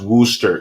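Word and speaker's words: Worcester: about that too oh Anna says is pronounced Wooster sorry I'm not from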